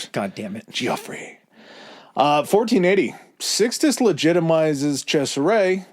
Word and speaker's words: Gioffre: And then you have Gioffre in 1482. And it's spelled such a pretentious It's Jeff, but it's spelled like the pretentious Jeff way. It's g i o f f r e.